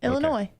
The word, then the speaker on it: Illinois: spelt like elainey you do you pronounce the ass in illinois just asking no illinois okay i'm sorry it just